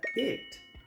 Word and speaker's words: it: Muchos pronuncian esta palabra eat, pero esta palabra no se pronuncia eat. Eat comer. Esta palabra se pronuncia it. La i se pronuncia como una. it.